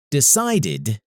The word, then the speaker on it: decided: sound not the letter decided is pronounced decide id even though decide ends in e because we don't say the e so the last sound is d for example wanted ended